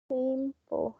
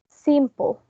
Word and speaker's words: simple: Simple has two syllables. Where's the stress? In which syllable? In the first one? In the first one. Let's see. Simple. Perfect. That's right, because we don't say simple, we say simple, right?